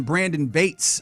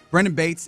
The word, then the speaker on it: Brendan Bates: a waiver claim on Brandon Bates. Uh or Brendan, rather, don't want to say his name incorrectly. Brendan Bates and Ben Sims, but Brendan Bates is the one that's notable.